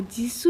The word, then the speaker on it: Jisoo: Ya, Jisoo ya, 이렇게. Jisoo. SOO. Paham ya? Misalnya, kalau bahasa Inggris juga namanya Me Too, ya, Me Too itu O-nya double kan? Iya kan? O-nya double, bacanya Me Too.